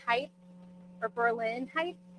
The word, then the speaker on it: Berlin: So Kataba Island 45 mph winds 43 for Port Clinton Berlin height or Berlin height. I know that the Berlin down to the south is pronounced like that. So is this Berlin or is it Berlin?